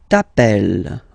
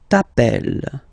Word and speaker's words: t'appelles: All right, second form, tu t'appelles. Okay, remember, final S not pronounced. Tu t'appelles.